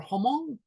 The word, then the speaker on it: Hmong: And let's see, this essay will explore how the Hmong people, how do you say it, Anne, is Hmong people or Hmong?